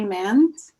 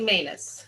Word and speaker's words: Manus: First, I'm going to introduce you to Mans. Did I pronounce that right? It's actually Manus.